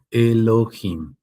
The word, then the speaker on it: Elohim: Se escribiría el oo, luego h inimos con J porque así se pronuncia, Elohim.